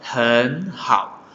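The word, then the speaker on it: 很好: Nah, bila nada ketiga saling berdampingan, maka pengucapan suku yang pertama itu akan berubah menjadi nada kedua. Tapi dalam penulisan tidak terjadi perubahan. Contoh, hen hao.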